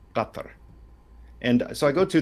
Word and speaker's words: Qatar: Qatar. It has the Q is a glottal stop. Qatar.